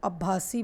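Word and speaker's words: Abbasid: अब्बासी, यहाँ डी जो है इसको प्रोनाउंस नहीं किया जाता, इसको अब्बासी बोलते हैं।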